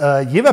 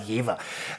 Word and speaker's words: Jever: Das Jever Pilsner ist ein Pilz, das mit 4,9 Volumenprozent Alkohol gebraut ist.